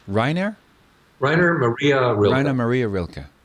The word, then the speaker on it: Rainer: Morten, how is his first name pronounced? Rainer? Rainer Maria Rilke.